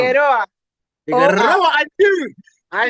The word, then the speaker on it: Figueroa: Is that how you say it? Or do you have to roll the tongue? Figueroa.